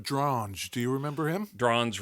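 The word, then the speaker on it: Dronge: Drange rhymes with orange.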